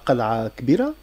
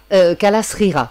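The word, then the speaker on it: Kalâa Seghira: Là, vous venez d'évoquer Qal'a Kbira. Oui. Ou Srira plutôt. Kalasrira, pardonnez-moi. C'est Mahni pour la prononciation.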